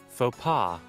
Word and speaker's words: faux pas: Mispronouncing it's French. Paw paw. Give me a really cool pop-up. Here we go. Faux pas.